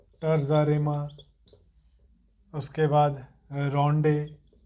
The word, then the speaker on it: rondeau: Next important जो information है, he experimented different rhyme schemes like Ottawa Rima, है ना, टर्जा रिमा, उसके बाद रोंडे, स्पेलिंग क्या है RONDEAU, रोंडे।